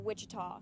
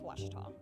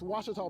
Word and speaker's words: Ouachita: for Washita Baptist University back in Texas everybody pronounces it Wichita but really it's Ouachita Washita Washita how would you pronounce it wash your top it's Washita Baptist University it's Ouachita people it's Ouachita Washington another Ace it's